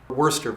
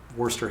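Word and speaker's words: Worcester: Wurster versus Georgia. And Wurster in this case is spelled a little bit odd, but I do believe that's the way it's pronounced.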